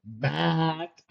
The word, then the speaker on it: MAAC: They even made a bit about it, but I always like to pronounce it the MAC. It's gonna be there. They're gonna be changing that name soon, but yeah, the MAAC, two A's, not one A.